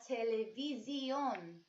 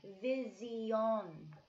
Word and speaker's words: televisión: Una televisión. Not vision, like in English, but visión. Visión. So go ahead and say una televisión out loud twice, boys and girls.